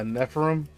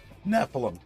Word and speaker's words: Nephilim: per how do you say this done a Nephron Nephilim Nephilim yes thank you yes yes agent this is